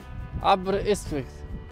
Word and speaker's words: Aberystwyth: Aberystwyth. Tak się to pisze. Podobnie wymawia.